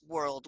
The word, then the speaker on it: WRLD: Hussle, Mac Miller, and Juice World. World is spelled WRLD, and Little Hmm.